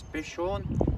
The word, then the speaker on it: Bishorn: I think you pronounce this Bishorn, B-I-S-H-O-R-N.